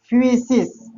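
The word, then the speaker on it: φύσις: जिसका उच्चारण होता है फ्यूसिस।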